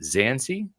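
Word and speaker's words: Dzansi: to the conclusion there is it zancy yeah see I I am looking at it as zancy just because B is silent okay so Silas zanzi that's the Virginia Tech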